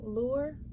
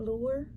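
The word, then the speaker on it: Lhuillier: is monique a little lure i'm thinking maybe that the h is silent lure lahore l-h-u-i-l-l-i-e-r and it's too small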